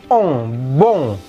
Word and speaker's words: bon: Kalau maskulang gini, on itu berbunyi ong ke atas, ong, bong. Ya.